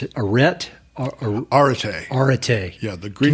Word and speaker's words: Arete: There was one word you mentioned in there, and I don't know how to pronounce it. Arête? Arete.